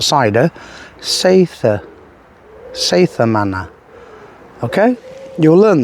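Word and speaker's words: Seiðr: Not cider, as most people pronounce it. Not cider. Seitha.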